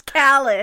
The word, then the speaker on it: Khaled: salad because that's how Miranda told me how to pronounce Khaled oh she said just make it rhyme with salad because I'm an old